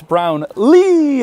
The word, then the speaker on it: Brownlee: to me and asked if i knew how to pronounce his name and he goes it's brown lee and did the huge